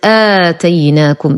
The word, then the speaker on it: آتيناكم: الآية 63 لدينا كلمة آتيناكم، لدينا ألف وقبلها همز فهو مد بدل، نقول وليس آتيناكم وهذا خطأ.